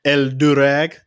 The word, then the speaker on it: El Dorado: um ethnic uh cultures the el dorado you know what i'm saying you gotta you gotta roll your r on that one you know yes sir